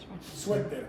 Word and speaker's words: suéter: Suéter. Mamá compró el suéter No, en la no, tienda. no. Put the accent on the E.